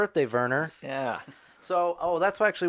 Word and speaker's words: Wernher: that's what we're doing i always thought the w's returned to v so not the other way around like volkswagen yeah the w's are v's so his name's verner hmm yeah was it